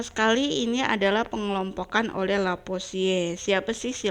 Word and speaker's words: Lavoisier: Nah, yang pertama sekali ini adalah pengelompokan oleh Lavoisier. Siapa sih si Lavoisier ini?